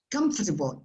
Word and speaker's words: comfortable: have the symbol but the second sound is uh and sometimes it disappears comfortable if you are omitted